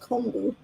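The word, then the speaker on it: kombu: if you want beautiful luscious hair you want Koo so it starts out dry yeah yeah and I use it a lot I I make um I make comu Koo it's actually pronounced comu okay oh like con k buo stock is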